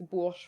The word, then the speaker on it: Bourges: French is my first language, hence why I'm asked to pronounce these things. So, I mean, Emily, you had all of these correct. It's Bourges, France.